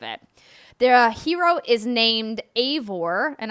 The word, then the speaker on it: Eivor: Their hero is named Eivor, and I have Eivor like Cravor because it's actually EI, so I wanted to get the pronunciation in there.